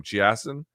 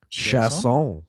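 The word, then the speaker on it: Chiasson: So, Macy, uh, I always mispronounce her last name. Chassen, how do you say your last name? Shasson. Shasson. That's right.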